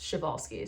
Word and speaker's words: Przewalski: It's spelled like Przewalski, but a lot of people say it wrong, and I found out it's pronounced Przewalski.